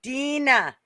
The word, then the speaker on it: Dina: Her name's Dina, and it's pronounced Dina. Dina.